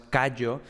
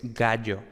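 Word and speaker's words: Gaius: estas cosas no pero ojo no es cayó sino que es gallo entonces ojo no confundamos la abreviatura que es antes con la pronunciación real por cierto también dejaré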